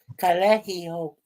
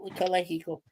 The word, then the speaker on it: Calexico: You don't pronounce the X. You just go Calexico. Calexico.